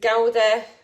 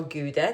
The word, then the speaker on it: Gouda: Um, and it is gauda or gouda, depends how you say it, and charo rolitos.